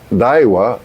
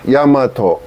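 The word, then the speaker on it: 大和: For example, This name could be pronounced Daiwa or Yamato.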